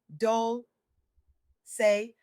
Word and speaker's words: Dolce: Welcome to Soft Girl Era, hosted by LeAnne Dolce, pronounced Dole say, like sweet softness whispered in French.